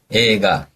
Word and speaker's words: 映画: 그래서 영화는 발음해 주세요, 선생님. 映画, 영어는 英語.